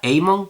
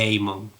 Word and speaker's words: Aemon: Porque tienen AE, que mucha gente lo pronuncia como suena, AE, pero en teoría debe pronunciarse EI, y entonces nunca estoy seguro de si lo estoy pronunciando bien.